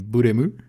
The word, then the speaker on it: Blame: je risque d'appeler soit Blame, soit Blâme. C'est un manga, donc de toute façon ça se prononce Buremu.